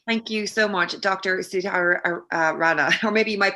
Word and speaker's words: Sudhir Rana: Sudhir Rana, or maybe you might pronounce it better. Yeah, Sudhir Rana.